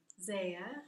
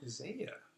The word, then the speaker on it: Zaya: Zaya. Zaya. That's a cool name. How do you spell that?